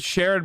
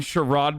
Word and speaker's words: Sherrod: sherrod brown because if i said sharon brown you'd be like who the is that you mean sherrod brown you just not paying